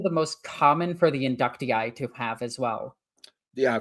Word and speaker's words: Inductii: This is also the most common for the inductii to have as well. Yeah, for the inductee is how it's pronounced.